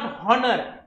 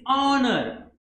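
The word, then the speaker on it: honor: तीसरा, एन ऑनर, इट्स नॉट हॉनर, इट्स ऑनर, ऑनर, यानी कि उसका जो प्रोनाउंसिएशन है वो अ जैसा हो रहा है, इसकी वजह से हम यहाँ पे एन यूज करते हैं, एन ऑनर।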